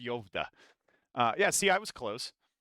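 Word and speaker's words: Skövde: It's called Yovda, but it's spelled Skovdi. That's pronounced Yovda.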